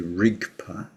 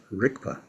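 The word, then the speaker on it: རིག་པ: So if you see transliteration, you see rigpa, but it doesn't sound like that. It sounds like rikpa, like a K.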